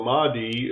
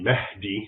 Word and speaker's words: Mahdi: So the Mahdi, as an English speaker would pronounce it, it's really Mahdi, which basically means guided.